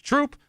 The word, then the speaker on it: Throop: Eric writes, as the current town supervisor of, the pronunciation is Troop, I want to say thank you for bringing a little attention to our little town.